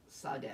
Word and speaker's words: Sade: Oh, Saude is a man. Okay, that's a good thing to know. Well, she was a singer. That Sade. That's Sade. Spelled the same way.